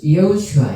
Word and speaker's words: 여호수아: 이제 호세아라는 이 이제 이름의 뜻이 바로 호슈아, 그래서 히브리어로 또 여호수아, 여호수아 히브리 원어 발음은 이제 여호슈아 이렇게 되거든요.